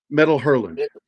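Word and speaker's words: Métal Hurlant: Metal Hurlant. Oh, sorry. Well, I pronounce it French way.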